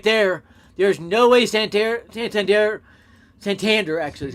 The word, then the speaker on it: Santander: There's no way Santander, actually is how you pronounce that, could have gotten near that.